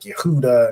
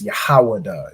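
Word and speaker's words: יהודה: We ain't saying, Daleth or Galeth or whatever, adding E's and random vowels like Yehuda and all that nonsense like the so-called Jewish man does, right? It's Yahawada, it's, Dalath for door, whatever.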